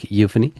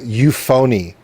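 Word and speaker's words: Euphony: A dark euphan. I'm glad you said it cuz I've been mispronouncing that for almost two years now. How have you been pronouncing it? Um, I said, uh, you phony, which sounds like you're fake, which is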